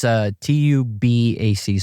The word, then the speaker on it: Tubac: How do you say it? It's Tubac. So Tubac.